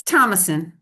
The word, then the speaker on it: Thomasson: And I'll now introduce Catherine Thomasson, who is our next speaker. And Dr. Catherine Thomasson is the legislative lobby coordinator for, and did I pronounce your name wrong? Is it? It's Thomasson, but that's fine.